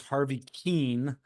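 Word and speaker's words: Harvey Kuenn: Gary Bailey I I I mispronounced the correct pronunciation of the baseball player was Harvey Keane I I think uh Mr Bailey wanted to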